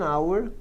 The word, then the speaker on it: hour: As palavras hour, heir, honor e honest são as únicas 4 palavras no inglês que o H é mudo.